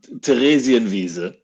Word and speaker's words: Theresienwiese: Okay, Lars, do you have any idea what Teresian Visa is? Yeah, it's And before we go further, can you pronounce it the proper way, please? yeah. So let's pronounce Theresienwiese.